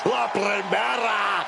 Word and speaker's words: La Primera: You need to roll your R's a little bit on that, man. La Primera.